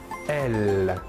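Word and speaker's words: elles: Et le pronom personnel sujet féminin de la troisième personne du pluriel est elle. Même chose que pour le masculin, la S finale ne se prononce pas.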